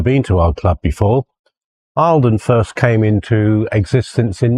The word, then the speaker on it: Eildon: her original Scottish Heritage and actually is pronounced Eileen if we to be correct anyway um so Alden